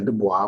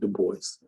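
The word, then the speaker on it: Du Bois: Edward burgart bergart The Voice some people say Dubois but that's not how you pronounce so you do pronounce it the boys um he was born in Great Barrington Massachusetts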